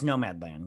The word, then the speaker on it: Nomadland: How do you pronounce it? Is it Nomadland? yeah, it's Nomadland.